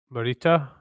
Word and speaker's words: Morita: was the other one Pat Morita is that the right pronunciation yeah yeah he wasn't they originally didn't